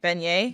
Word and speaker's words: beignet: Beignet?